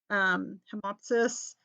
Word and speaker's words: hemoptysis: Hemoptysis, that's PTYSIS, the P is silent.